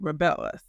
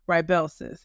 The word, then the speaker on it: Rybelsus: Bell's during that video I called it rebellis I don't think I pronounced it correctly so hopefully today I'm pronouncing it correctly Rellis I was taking that